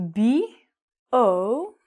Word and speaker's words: bourbon: It's actually B-O-U-R-B-O-N. But the pronunciation again would be bourbon.